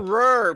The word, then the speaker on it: horror: Yeah, Horror. not Pronounce the horror, second R. not horror.